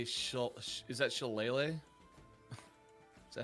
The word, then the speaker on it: shillelagh: Apparently it's pronounced shillelagh.